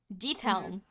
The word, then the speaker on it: Diethelm: Deathelm. Deathelm is the family name. And that's spelled Diethelm.